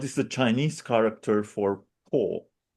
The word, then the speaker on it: Po: How do you pronounce this? Po.